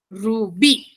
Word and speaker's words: rubí: Entonces me voy a la sección de la A, donde la sílaba en la sección de la A es la sílaba B. Entonces yo digo, rubí, rubí.